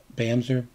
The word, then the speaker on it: Bamse: They are AlexIsPlaying, Andrew J.M., Bamse, that's pronounced Bamser, Daniel, DrMarkMadScientist, Evan, or Yvonne, McGregor, I hope I am pronouncing that correctly.